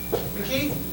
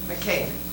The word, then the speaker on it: McKay: McKee? McKay. McKay. Say it like a keg of beer.